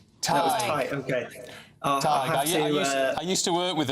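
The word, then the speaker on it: Tadhg: Tig is a funny one because it's Irish obviously as you'll know, but it's spelled T A D HG.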